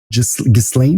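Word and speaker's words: Ghislaine: On sait qu'en 1998 en anglais dis Glin mais on va l'appeler Gisel parce que c'est comme ça que ça s'écrit.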